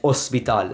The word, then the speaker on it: hospital: So hospital is the same word, and it's hospital, as though there's no H.